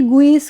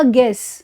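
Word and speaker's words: guess: Next word है इसमें, अब इसमें यू की साउंड देखो नहीं आएगी, यू नहीं, इसका मतलब यू आ रहा है, इसका मतलब ये नहीं कि गुइस कर दो इसको, जैसे अम्ब्रेला में बोलते हैं, ठीक है। इस तरीके से इसको यू को साइलेंट करना है और ये होगा गेस, ठीक है, गेस।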